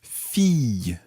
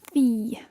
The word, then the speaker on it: fille: Yeah, that's quite a tricky word to say. Listen carefully. Fille. Fille. And you can decide to do a sort of y at the end, or just leave it as fille Fille.